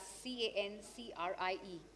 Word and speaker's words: Cancrie: Cancrie, it's spelled as C-A-N-C-R-I-E. I'm pronouncing it correctly?